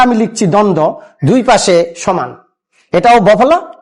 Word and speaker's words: দ্বন্দ্ব: একটা লেজ লাগিয়ে দেয় এটারে দন্ধ বানায় ফেলায় এটা কিন্তু আসলে একদম ঠিক নয় উচ্চারণটা দন্দ অর্থাৎ দন্ত বফলা দন্তানদ